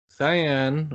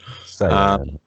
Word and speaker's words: Cyan: I have to say, Cyan or Cyan, whichever way you want to say it. Cyan. It says Cyan, I think, is how they said the appropriate pronunciation, but I think I've heard people say it with a hard K sound as well.